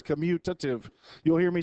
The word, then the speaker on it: commutative: students and it's the commutative property vice Goodwin Anya now when people pronounce to say the community remember T there's no n in it it's commutative because we have stuff in